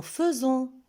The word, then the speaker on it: faisons: Je remarque qu'avec le pronom personnel nous, on voit dans le verbe est, AI, mais on prononce E et on dit nous faisons.